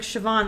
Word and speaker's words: Siobhan: And be like, "Siobhan." Like, that's not how you spell that.